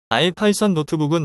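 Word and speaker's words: ipynb: 이름을 수정할 수 있습니다 뒤에 있는 ipb n 파일 형식으로 아이파이썬 노트북이라고 읽으며이 부분도 파이 파일로 변경 가능합니다 아이파이썬 노트북은 단계별 코드를 실행할 수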